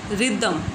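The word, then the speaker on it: rhythm: RHY रिदम, री दम, तो री यहाँ पर RHY से भी हमारी ई की साउंड निकल रही है, रिदम।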